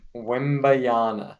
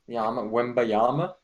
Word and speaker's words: Wembanyama: Let's pronounce it. Come on. Wembayana. No, no, no, no. Yama. Yama. Wembayama?